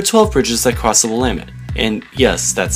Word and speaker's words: Willamette: There are 12 bridges that cross the Willamette, and yes, that's how you pronounce it.